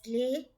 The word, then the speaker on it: les: u or silent h l e s lay is same like d e s d d e s d means sum used for plural and ls lay is the only but